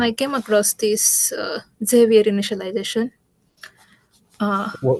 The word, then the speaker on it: Xavier: randomly But then I came across this uh Zavier initialization. Uh what was the term? Um I'm not sure how I'm pronouncing it correctly, but it's X A V I E R.